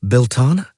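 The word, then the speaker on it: Belleteyn: Where right now it's the second full moon after Bellatine and Bellatine is pronounced Belana.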